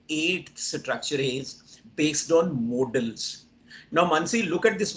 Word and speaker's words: modal: pronunciation um British British but if you check any dictionary you will find that this word model has no alternative pronunciation it has only one pronunciation modal m-o-d-a-l and these models